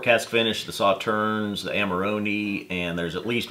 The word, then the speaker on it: Amarone: I had said Amarone before we learned it in there. Scotchology corrected us and said it's Amarone.